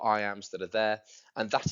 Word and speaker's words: iamb: Well, you need to know what an iamb is, I-A-M-B.